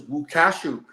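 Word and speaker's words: Lukaszuk: She actually has advised me that the correct way to pronounce Thomas Lukasik's name is Łukaszuk.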